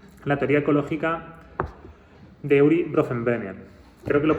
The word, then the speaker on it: Bronfenbrenner: Esta es un poco la idea de la teoría ecológica de Uri Bronfenbrenner. Creo que lo he pronunciado bien. Uri Bronfenbrenner, sí.